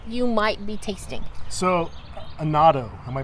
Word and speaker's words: annatto: So annatto, am I pronouncing that correct?